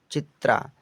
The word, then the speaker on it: चित्रा: प्यारे बच्चा CHITRA पढ़ेंगे हम चित्रा। तो CH से तो च होता है, क्या? च। आई से छोटी की मात्रा, TR से त्र होता है, क्या? त्र और ए का मतलब बड़े आ की मात्रा।